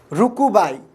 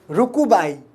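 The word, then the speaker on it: RUCUCBAI: Rukubai. C is silent, this second C is silent here. Rukubai, you can call it Rukubai, right?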